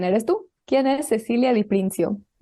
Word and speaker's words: Di Prinzio: pregunta es quién eres tú quién es Cecilia de princio Y corrígeme si pronuncia ma tu apellido por favor no está